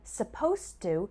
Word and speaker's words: supposed to: z sound suppose and supposed to has a s sound supposed to finally let's